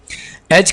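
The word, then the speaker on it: edge: एज का माना होता है किनारा, यहां पर डी को आपने साइलेंट रखना है।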